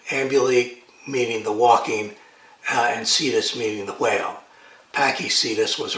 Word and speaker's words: cetus: In Greek it would be pronounced katos. But in Latinized versions, it's usually pronounced cetus. The C being soft, which is the way that the French pronounced the Latin C in medieval times.